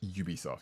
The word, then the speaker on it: Ubisoft: How do you pronounce it? Is it Ubisoft? Ubisoft, yes.